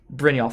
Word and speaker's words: Brynjolf: Brynjolf? Yolf. Oh, soft. Yolf. Damn it. I was like, let's just call it a Jolf because I don't... Alright, it's a Yolf. Alright, so Brynjolf. Or Brynjolf? Brynjolf? Brynjolf.